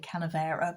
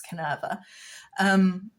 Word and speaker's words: Canerva: I keep calling it Canavera, but it's Canerva.